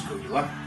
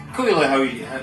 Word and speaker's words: Caol Ila: It's pronounced Caol Ila. Doesn't look like Caol Ila, does it? Depends where you come from. It's Caol Ila is how you pronounce it.